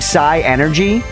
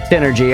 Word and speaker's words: synergy: Initially, I was saying sigh energy. Uh, focus damage for the action economy purposes. Are they attacking us ever by the way? Synergy.